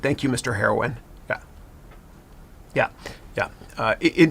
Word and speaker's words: Haroun: is hard to pronounce so it's h a r o u n it's pronounced heroin okay I'm trying to be